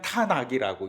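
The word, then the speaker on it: 타나크: 그리고 이 세 글자의 중간에 아 발음을 집어넣은 거예요. 그래서 아바로 A를 집어넣어서 그냥 탄악이라고 읽는 거예요.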